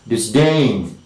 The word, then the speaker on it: disdain: this particular rule and the next is disdain disdain okay disdain d d-i-s-d-a-i in this game okay so it is this game okay this game all right so the primary stress is falling on the second syllable disdain the next is okay